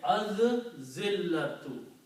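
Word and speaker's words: الذِّلَّةُ: You say az zillatu. Okay. When zal is a shamsi letter, when lam comes before that, then lam is not pronounced and zal is pronounced twice.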